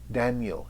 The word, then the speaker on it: Daniel: you can see it Daniel if I say it like that the done is a strong and yell is a weak syllable so for the strong